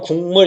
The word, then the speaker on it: 국물: 자, 발음하면 국물 이렇게 발음 나요.